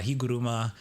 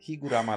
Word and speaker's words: Higuruma: I was specifically saying Higuruma, not Higurama, last week cuz it's I feel like it comes out better. But like I I do get it. Higu ru Higuruma, like that's more of a Japanese pronunciation.